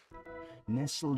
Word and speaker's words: nestle: Nestled in the bundle was a baby. Nestled in the bundle was a baby. Nestle. Yep. That word in that word you don't pronounce the t.